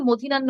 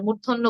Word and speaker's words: মূর্ধন্য: ন বা মূর্ধন্য ন আমরা অনেকে মধিনান্য ন বলি আমি দেখি আবার মূর্ধন্য বলি শুধুই এটি হবে মূর্ধন্য ন আমি লিখে দিচ্ছি চ্যাট